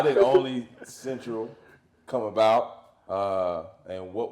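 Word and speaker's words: Olney: How do you pronounce it? Oni. Okay. How did Oni Central come about?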